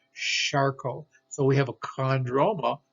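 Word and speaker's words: Charcot: we get but again that's not a hard k sound that's a charcoal so we have a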